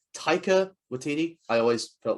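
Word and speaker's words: Waititi: are ragnarok vibes definitely um i hope i pronounced his name right taika watiti i always felt like i mispronounced the name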